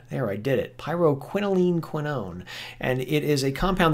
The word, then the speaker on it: pyrroloquinoline quinone: PQQ stands for pyrroloquinoline quinone. There, I did it. Pyrroloquinoline quinone.